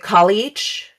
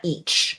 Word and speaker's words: Callieach: on this is it Callieach? Callieach is how I think it's how it's pronounced. Callieach. Okay, not each.